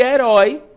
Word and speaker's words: herói: E herói, eu separo e eroi, né? É terminado em de tongo aberto, porque eu tenho uma vogal e uma semivogal, né? Então, eh, ele vai abrir o som, ó, é herói de tongo aberto. Logo, é uma é a última sílaba, é uma oxítona.